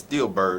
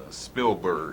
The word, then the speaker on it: Spielberg: Because she likes Steelbird and all that. How you say his name? Spielberg.